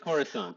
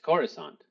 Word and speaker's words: Coruscant: because I must have Corissant. I must I must have started saying that for some reason. Yeah. Where are you going? To Coruscant.